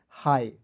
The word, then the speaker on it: hi: देखिए जब भी आपको एच आई शुरुआत में दिखेगा, तो एच आई को हम लोग पढ़ेंगे हाई।